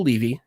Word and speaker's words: Levy: he here today well global credibility expert Mitchell Levy and I say pronounced Levy because of the first time I met him